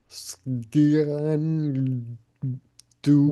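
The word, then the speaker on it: Sgian Dubh: you pronounce that? How do you go directly from an S to a G? Sgian dub.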